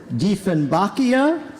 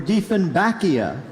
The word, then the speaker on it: dieffenbachia: correct this next word has alternate pronunciations either dieffenbachia or dieffenbachia a genus of the